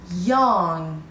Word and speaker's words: young: بچه دقت کنین، خیلی ها به اشتباه یانگ میگن. من بهتون همیشه میگم که وقتی انجی دیدین جی رو پرونانس نکنین، یعنی جی پرونانس میشه ولی خیلی سلایت و خیلی آروم ته گلوتون.